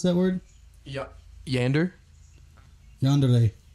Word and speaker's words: yandere: How'd you pronounce that word? Yeah. Yander? Yandere. Yonder?